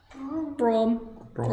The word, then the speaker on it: Braum: Brom. Like brum brum, but not quite.